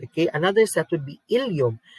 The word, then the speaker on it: ileum: Okay, another set would be ileum. Ileum in the small intestine and ileum in the hip bone. So those are two different words which is pronounced the same.